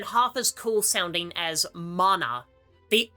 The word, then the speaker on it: mana: It's mana, not mana. I can see where you went wrong. You're pronouncing it exactly like it's written, so I don't fault you for making the mistake.